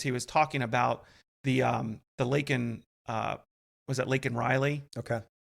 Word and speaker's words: Laken: He called her Lincoln instead of Laken.